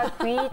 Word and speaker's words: 아귀: 아기. 아기. 아유 발음을 정확히 해야죠. 아기가. 아귀 탕수육.